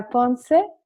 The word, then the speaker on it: Ponce: It's this beautiful kind of repertoire reminding me of the south of Spain, Concerto del Sur by Ponce. Did I pronounce it correctly?